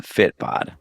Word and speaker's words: Fitbod: Yeah, and every day I go, how are you getting such a fit bod?